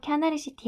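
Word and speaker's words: キャナルシティ: 아까도 나왔지만 자, 우리나라 발음으로는 캐널시티인데 이 캐널이라고 쓴 거는 일본식 발음은 이 캐널시티의 캐널을 캬나르라고 해서 그래. 그래서 캬나르시티 하카타라고 해서 캐널시티 하카타.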